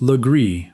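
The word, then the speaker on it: Legare: Legar, still spelled the French way in Charleston today, is pronounced lree by most of its own descendants who no longer know the sound is a corruption.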